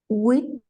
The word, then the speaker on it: huit: So that sound may be a little hard to pronounce at first. Usually people, especially English speakers, have trouble with the U. They usually go to a U.